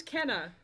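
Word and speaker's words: Kena: lovely game as well to pronounce kana i thought it was kenna i thought it was canada too until i started playing the game and then all the characters in the game because there's voice acted all of them pronounce it kana and i'm like all right i guess i've been saying it wrong c-a-n-a it's k-e-n-a but they all pronounce it just kidding so a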